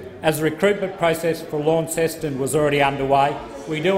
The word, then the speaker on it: Launceston: the minister aware that the town launceston is pronounced launceston uh secondly if uh